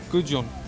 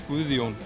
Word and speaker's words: Gudjon: Gudjon. Gudjon. If you want to say it in Icelandic, it's Gudjon.